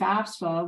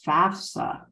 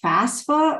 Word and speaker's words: FAFSA: trying to figure out how do we pronounce this FAFSA is it FASFA or such so don't you know